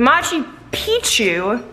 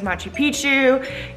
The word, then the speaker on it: Machu Picchu: say it correctly but Machi p two you're supposed to say like Pikachu and trust me they